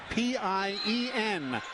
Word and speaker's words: Pien: Again, the young lady from the Netherlands spells her first name P-I-E-N. It's pronounced Pien.